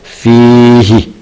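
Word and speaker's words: فيه: contoh cara bacanya hu bila sebelumnya berupa Ya Sukun maka dibaca Hi contoh fihi fihi ayatum bayinatun fihi ayatun bayyinat fihi dibaca Hi bukan fihu asalnya adalah Hu kenapa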